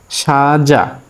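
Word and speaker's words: 사장: কিন্তু এই ক্ষেত্রে, এই শব্দের ক্ষেত্রে, এই ফরম্যাটে শিউতের উচ্চারণটা হবে স, সাজাং, সাজাং, সাজাং, সাজাং মানে হলো মালিক।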